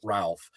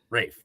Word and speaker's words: Ralph: And that is, and I mess it up every time because he does not pronounce it Ralph. He pronounced it Rife or Ruffy. Reef. It's Reef Fiennes. Rafe.